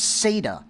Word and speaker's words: SATA: And that's SATA. That's how we pronounce S A TA.